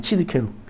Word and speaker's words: 치드케누: 치드케누 발음이 치드케누. 네, 히브리어인데 에레미야 23장에 나오는 말입니다.